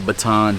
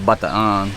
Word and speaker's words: Bataan: you're familiar with the in america we say the baton death march over here people pronounce it bataan in my experience but just south of